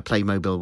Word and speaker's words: Playmobil: side of the box it tells me that I should pronounce it Playmobil um It's Tricky that one I suppose I really should call it what the company would like me to call it but I just say mobile because when I say when